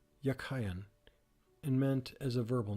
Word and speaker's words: Jachin: The word jukin in Hebrew is something. It was probably pronounced yakayan and meant as a verbal noun, he that strengthens and thence firm, stable, upright.